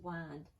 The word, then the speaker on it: wind: show yellow grow outside plow wind it can also be pronounced wind all right so let's